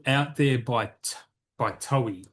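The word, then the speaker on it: Toei: There's another one here called Out There by by Towi. I'm pronouncing it towi. It's T O EI. So that sounds sounds towi, right?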